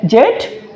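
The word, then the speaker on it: Z: সো এটিকে আমরা দুইভাবে উচ্চারণ করতে পারি, একটা হচ্ছে জে মানে জেট অথবা জি। সো মনে রাখতে হবে যে এই জেট বলবো হচ্ছে ব্রিটিশ উচ্চারণের ক্ষেত্রে, আর এই জিটা বলবো হচ্ছে আমেরিকান স্ট্যান্ডার্ড বা গ্রামার অনুযায়ী জি বলতে হয়, ওকে।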